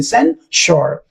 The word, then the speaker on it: censure: So s u r e you need to remember sure and then you have to add sen only sen sure it means express severe